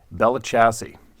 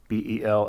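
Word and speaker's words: Belle Chasse: I spent a lot of time in Alabama, a few other southern states, and there's a town there called Bellachassee. I'm pretty sure that's how it's pronounced. Bellechase.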